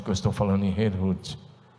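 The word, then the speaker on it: Herrnhut: Zinzendorf, num lugar chamado Herrhut. Eu não falo nada de alemão, por isso a pronúncia é portuguesada, mas é Herrhut. É por aí.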